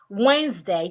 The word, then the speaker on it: Wednesday: Wednesday. Not day. Wednesday.